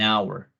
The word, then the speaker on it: hour: Buy a horse in an hour. Entonces, la diferencia de la H aquí es que es sonora, pero hour es muda.